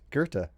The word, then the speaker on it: Goethe: You pronounced it right, Goethe.